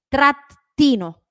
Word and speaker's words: trattino: decir trattino solamente trattino acuérdense que la doble la pronuncio con una pausa la hago a la doble trattino baso trattino y